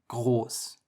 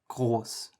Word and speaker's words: groß: words like jalapeno, and the German R is sort of like that sound, the but just a little bit further to the front.